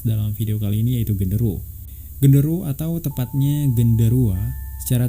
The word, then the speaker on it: genderuwo: Magis pada tahun 2007, istilah genderuwo itu jika diucapkan dalam bahasa Jawa akan menjadi genderuwo ataupun gendruwo. Nah, sementara jika dalam pengucapan bahasa Sunda akan menjadi gandaruwo.